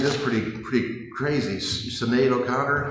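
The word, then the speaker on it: Sinéad: Sinead O'Connor, not Sinai McDonald's. Katrina Balfe, not Cat Rhino Barf.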